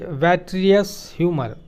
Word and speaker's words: vitreous humor: It contains a jelly-like fluid called the vitreous humor या vitreous humor बोल सकते हैं। Vitreous humor is the correct pronunciation.